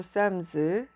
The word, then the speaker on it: Psalms: 쌈 완 시작하겠습니다 또 북 오브 쌈 쓰 쌈 완 이렇게 읽어요 그리고 키 묵음 이고 싸 하다가 l 묵음 이고 m 소리나고 이 뒤에 나은 것은 전체